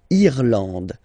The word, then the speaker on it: Irlande: Remember, this is E, and it should be pronounced like E. Irlande. Irlande. Okay. A-N, en, D, and final E, not pronounced.